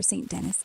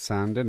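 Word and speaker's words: Saint Denis: Gameplay tips for St. Dennis and Le Moine. St. Dennis crimes. Watch out for the lock. Wait, wait, wait. First of all, first of all, it's pronounced Sanden as we've described.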